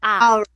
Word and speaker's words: hour: hospital however this one we don't say the power we pronounce this word as our which is letter a ah so we will